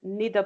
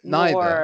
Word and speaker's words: neither: neither Paul Not neither. nor Neither. neither Yes, because neither neither is Paul. the American English pronunciation, but the British say neither nor, and when it's positive